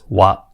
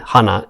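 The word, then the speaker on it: 話: Although the reading or the pronunciation is different, we can see it's wa in kaiwa and hana in hanasu.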